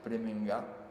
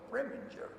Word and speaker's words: Preminger: pregunté cuando le entrevisté si había que llamarle Preminger, un poco a la alemana, y me dijo, no, Preminger, totalmente pronunciado en inglés.